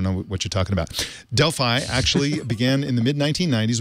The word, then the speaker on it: Delphi: But Sam said the company, I pronounced it Delphi, and he said, no, it's pronounced Delphi, which is, I appreciate the correction in pronunciation.